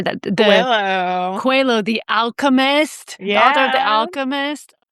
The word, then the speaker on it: Coelho: Coelho, the Alchemist, the author of The Alchemist, Marianne Williamson, Mark Nepo, and His Holiness the Dalai Lama.